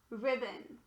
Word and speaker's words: ribbon: Ribbon. The O here is actually a schwa because it changed from aw to Next word.